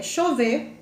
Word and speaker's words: Chauvet: lá cole na frança se escreve chauvet e lascaux mas a gente pronuncia a gente já que é francês é chover e lascou tá e na espanha